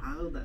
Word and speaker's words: Gouda: Howda. Howda, that's it.